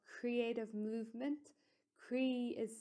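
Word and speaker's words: croí: i had started a movement group called creative movement cree is spelled c-r-o-i father which is the irish word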